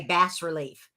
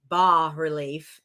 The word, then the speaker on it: bas-relief: faux uh boss relief it's Bas but you'll hear you'll hear like the Anglican or the the American way we say bass relief well really it's ba relief and I heard it